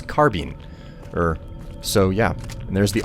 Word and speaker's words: carbine: Made a point that it's supposed to be said carbine. And I actually went and looked at several different dictionaries to find out just what the pronunciation is supposed to be, and much to my surprise, this guy was correct. It's actually not it's not carbine, it's carbine.